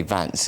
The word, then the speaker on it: Vance: and most recently JD I think you have to say Vance is the right way to pronounce it I'm as a post